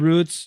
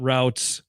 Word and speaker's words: routes: Rub roots. Yep. I like them. Ben hates it when I say roots, but that is the proper way to say the word. It's not routes, but Ben had a diet.